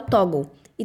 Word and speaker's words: Toggl: E Em relação a foco, eu tenho gostado de usar o Toggl. E tem outros apps parecidos. Toggl se escreve Toggle.